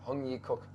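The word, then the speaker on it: Heung Yee Kuk: not bad why huh ah because it's just spelled like this right yeah x-e-u-n-g yeah and that is the cook hongyi cook yes yeah yeah yeah how's my tones good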